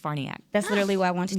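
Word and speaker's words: Farniok: don't play about names Matt it's actually uh farniac it's with an o f a r n i okay but it's pronounced farniac that's literally what I wanted yeah well Matt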